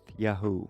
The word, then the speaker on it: Yahu: This proves beyond any doubt that the first 3 letters of the name were pronounced Yahu in ancient Israel. It also proves there was never a Yeh prefix in biblical times. That came later. The vowel pattern, Yahu, is the authentic Semitic form.